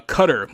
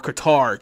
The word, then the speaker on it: Qatar: Here's another Middle Eastern uh powerhouse uh Qatar or Qatar depending on how you would pronounce it.